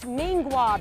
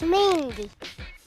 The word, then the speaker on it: Mingua: I've always heard it pronounced Mingwa beef jerky. Yeah, I know how to pronounce this. It's Mingua? No, it's Mingy.